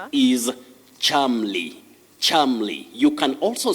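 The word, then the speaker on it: Cholmondeley: of that name is charmly charmly you can also say chumley chumley but the acceptable or the standard pronunciation of that name is charmly so charmly or chumley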